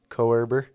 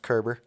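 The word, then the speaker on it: Koerber: last name is spelled like k-o-e-b-e-r i think coerber but it's pronounced kerber all right back to the uh back to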